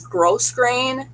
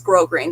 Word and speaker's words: grosgrain: It's the way it's spelled, it looks like it's grosgrain, but it's not. It's grosgrain. The S is silent.